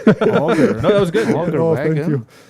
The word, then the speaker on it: auger: about my pronunciation? Auger.